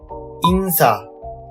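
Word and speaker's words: 인사: E plus N plus Sa. Insa.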